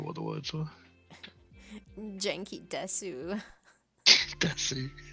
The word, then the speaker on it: desu: That one's weird because that's how it is phonetically spelt, but they don't pronounce it. They just pronounce it des usually. How do you say it? Desu? Just des. Oh, just des? Like no. Yeah, the U is kind of silent as far as I'm concerned.